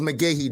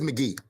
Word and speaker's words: McGee: I don't think it was McGahee Day. I think what you were probably trying to say, or what I'm going to say is the McGee days. Oh, yeah. That is McGee. You just butchered his damn name.